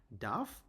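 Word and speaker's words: darf: যেমন ইশ ডাফ আরটা এখানে সাইলেন্ট থাকবে। ইশ ডাফ ডু ডাফস্ট।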